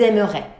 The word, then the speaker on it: aimeraient: Ils aimeraient. So, je, tu, il, and il plural, same pronunciation.